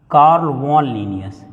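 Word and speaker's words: Carl von Linnaeus: कार्ल वॉन लीनियस, इनका सही जो नेम का प्रोनाउंसिएशन है वो यही है, कार्ल वॉन लीनियस।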